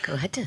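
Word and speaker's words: Cohutta: She is an American actress, television personality, singer, and philanthropist born in how do I pronounce this? Kohhata. Kohhata. Is that right? Yes. Kohhata.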